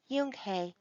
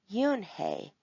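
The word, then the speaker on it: Unhei: turned to joey she nodded slowly yes it's pronounced yunke any means grace mr kim added yoon hey joey said slowly and this time perfectly it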